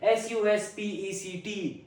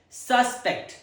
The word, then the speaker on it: suspect: Now let's check on the first pronunciation. Suspect. The first syllable is stressed. Suspect.